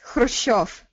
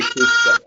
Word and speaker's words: Khrushchev: It's simply Khrushchev. Yeah, okay. The American pronunciation, we say Khrushchev.